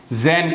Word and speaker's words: xeno: जेन, इसका स्पेलिंग देख लो, XENO. वैसे इसको जेन भी पढ़ सकते हो.